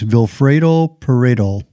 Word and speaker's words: Vilfredo Pareto: economist, and his name, I love the name, it rhymes, Vilfredo Pareto, easy to remember.